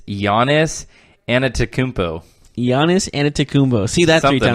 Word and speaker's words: Giannis Antetokounmpo: Greek freak that's a sick nickname can you pronounce it it's Giannis antetokounmpo mo see that's something like that they say